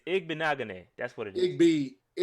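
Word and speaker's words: Igbinoghene: It's Igbenagane.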